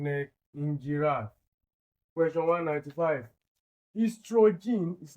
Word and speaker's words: estrogen: Estrogen is not ostrogen. This O is silenced is pronounced as estrogen.